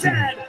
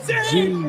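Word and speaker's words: zed: And it is pronounced said, not seen, said.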